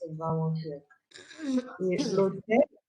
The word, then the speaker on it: l'hôtel: L'hôtel, we don't say le hôtel, we say l'hôtel. Because the H here, we don't pronounce the H.